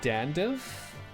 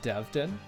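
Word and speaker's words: Devdan: So is it Devdin or Dandiv? It's Devdin. Did I mispronounce his name? Did I say Dandiv? Danvid. He is Devdin, and most certainly not Dandev.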